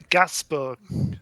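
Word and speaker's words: Gainsbourg: fun fact she's um so it's actually Gasburg is is how you pronounce it because she is the daughter of she's daughter of s Serge Gasburg who was a big French singer does she have a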